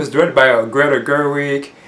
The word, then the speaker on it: Gerwig: directed by a greater Gerwig then that's how you pronounce her last name and again you do